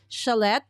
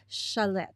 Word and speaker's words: Schlette: It's Schlette. Okay, that's how you pronounce it. Schlette.